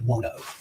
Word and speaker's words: Buono: Dwayne Buono.